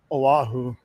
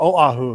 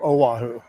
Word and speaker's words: Oahu: Oahu I've been told I need to start pronouncing it that way Oahu or Oahu instead of Oahu I'll give it a shot we are at